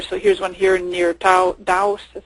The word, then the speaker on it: Taos: So here's one here near Taos. That's how you pronounce that, New Mexico.